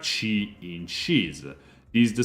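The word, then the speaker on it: ち: she is pronounced like chi in chees this is the second exception here aana instead of a t sound it's a chi sound try not to forget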